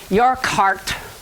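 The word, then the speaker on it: Urquhart: the back side of it which is called your cart it's spelled you are q h a r t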